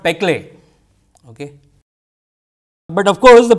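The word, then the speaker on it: Péclet: dA by UL, okay, Peclet number, that T is silent. So, say Peclet number, okay, the very famous number.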